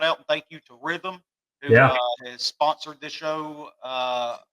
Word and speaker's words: Rithmm: So big thank you to Rhythm. If y'all hadn't tried them yet, go download the app. It's spelled RITHMM.